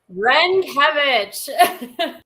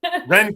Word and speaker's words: Renkewitz: How is that pronounced? Renkewitz. Renkewitz.